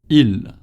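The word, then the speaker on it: ils: Il. Très bien. Il. We don't pronounce the S either at the end of il.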